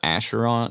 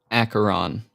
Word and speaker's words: Acheron: and I think the other road is called Acheron, or the other river is called Acheron.